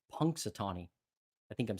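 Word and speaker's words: Punxsutawney: is basically punks Satani it's not patani it's pun Satani I think I'm saying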